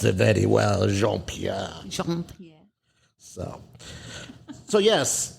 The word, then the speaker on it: Jean Pierre: are not allowed to say yours correct sir Jean Pierre very good she can pronounce it very well Jean Pierre Jean Pierre so so yes my name is